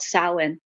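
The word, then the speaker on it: Samhain: And historically Halloween is based on a holiday that started in Ireland called sin and it's spelled s a m h a i n just to confuse us Americans.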